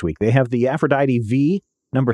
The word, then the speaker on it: V: They have the Aphrodite V number 3. I believe it's pronounced Iv. No, it's just V. There's no IV before it.